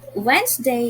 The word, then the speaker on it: Wednesday: the word wednesday great wednesday is spelled as w e d n e s d a y wednesday if you have noticed letter d wasn't red it was silent and letter e as well it was silent so